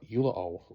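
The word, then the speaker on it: Ulloa: Ula Oo, I think is how you say that.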